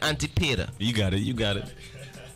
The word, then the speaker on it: Antipater: Antipater.